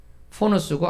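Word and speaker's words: φόνος: 네, 발음이 쉽지는 않은데 굳이 또 왜 했냐면은 그 다음에 나오는 살인이 포노스입니다. 포노스고 아까는 푸소노스였죠, 그죠?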